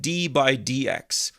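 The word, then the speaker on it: d/dx: We pronounce it d by dx.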